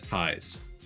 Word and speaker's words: Ties: So, as you all know, most of you, my name is Ties. It's pronounced ties, like the word advertise.